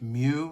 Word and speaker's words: mu: It's pronounced mu like mucus, not moo like the cow.